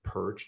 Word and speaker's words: Pyrcz: i should introduce myself last name is perch pronounced purge just like this right here now if you